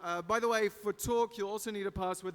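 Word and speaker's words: Talque: a little bit earlier that app is called talk that's spelled differently than what you'd normally say so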